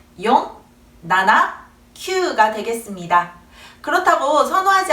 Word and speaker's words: よん: 한자로 죽을 4자를 써 놓고 읽어보라고 하면 시라고 발음하거나 시보다는 용 쪽을 더 선호하는 편입니다 자 그리고 치를 읽을